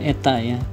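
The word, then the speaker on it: η: Nah, gimana cara menghitungnya? Menurut Sir George Stokes bahwa gaya gesekan dalam fluida itu cara menghitungnya K dikalikan dengan simbol Yunaninya eta, dibacanya eta bukan N tapi eta, dikalikan dengan kecepatan.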